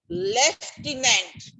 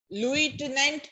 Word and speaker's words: lieutenant: Lieutenant. Lieutenant, some of them, some places they do pronounce like that only, but we have learned it as lieutenant.